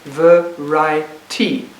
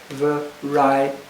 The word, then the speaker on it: variety: They think it's a 3-syllable word. They would divide it variety, completely missing the 3rd syllable. So I write the word on the board and I say, this is a word which has 4 syllables. Stretch it until you can find the 4th syllable. And then they would realize that the word is in fact variety.